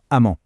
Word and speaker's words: -emment: Le petit piège, c'est que les deux se prononcent exactement de la même : -amment.